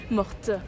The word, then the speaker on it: morte: Morte. I never know if I need to pronounce the last letter or not. French is so hard. No, morte because you're it's Ah, feminine. because it's feminine.